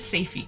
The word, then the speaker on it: Safy: I think it is safy. Correct.